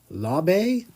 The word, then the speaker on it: Laube: Going to Green Bay with Dylan Laube. I think that's how it's actually pronounced. 238 figured it out the other day, and I can't remember if it's Lobby. It's not Lob. It's something else.